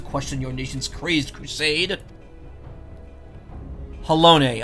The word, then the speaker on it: Halone: your nation's crazed Crusade halone okay I was just saying hello I wasn't pronouncing the e at the end you speak to me